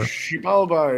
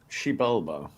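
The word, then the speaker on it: Xibalba: How do we pronounce the exy thing? Exa blah. Whatever. Shealba is like the uh the underworld for me. Wait, what is it? Shealba.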